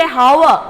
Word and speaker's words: hour: Do we say hour? No. H-O-U-R, hour, we pronounce it hour. So it has a sound of vowel because H is silent over here.